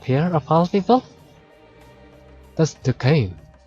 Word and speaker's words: Duquesne: That's Duquesne. How do you say his name? Kane? Let's say it Kane.